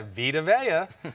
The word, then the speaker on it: Vita Vea: Vita Vea, I always say his name wrong. Vita Vea. Vita Vea, I always say it. Yeah, Vita Vea.